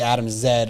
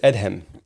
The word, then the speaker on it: Adhem: to you and say Adam Zed or yeah or they're just Adams that's your Adams how do you say it in Arabic in Arabic it's Ed him Adam yeah but like